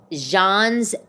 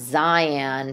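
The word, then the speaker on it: Xi'an: right way but like it would be pronounced Zion Famous Foods but like if you just looked at it but phonetically but that's not how you say it I think it's Jean's Famous Foods anyway it's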